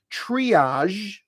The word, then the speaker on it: triage: that's the sound and that's the sound in the word triage maybe you're a nurse